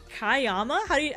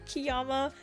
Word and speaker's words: Kiyama: like, is it Killer Kiayama? He's like, how would you like your name pronounced? And I was like, oh, and I explained to him like, oh, it's actually Kiyama.